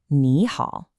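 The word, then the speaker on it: 你好: The first one changes to a rising second tone, so it becomes ni hao.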